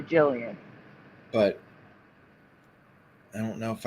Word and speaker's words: Gillian: I used to pronounce it Gillian. Yeah, I know and I was that. corrected to Jillian.